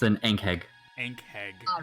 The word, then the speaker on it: Ankheg: Well, I don't remember how it's pronounced, Sin. Ankheg. It's an Ankheg.